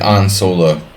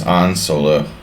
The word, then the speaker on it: Han Solo: it's pronounced an like an solo the EUR European pronunciation of Han Solo is an solo we got a sa